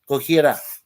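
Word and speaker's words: Gojira: the lighters being passed he goes goira goira that's what it's actually pronounced G OJ i r a yeah that's the official Japanese name for God Zilla and then of course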